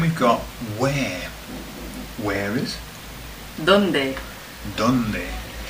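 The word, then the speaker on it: dónde: Donde. Donde. And I used to remember this by thinking, where is Dundee? Where is Dundee in Scotland?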